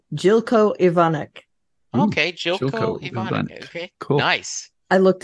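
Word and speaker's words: Željko Ivanek: I'm excited yeah just so you know you pronounce his name jilco evonik okay cool nice I looked it up he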